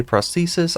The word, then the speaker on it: prosthesis: we have millisense prosthesis and yes that is how you say prosthesis i just looked it up this talisman increases your